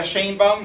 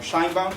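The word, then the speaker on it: Sheinbaum: two candidates right uh Claudia shanbom or Shin bom depending on how you like to pronounce it and SOI Gales right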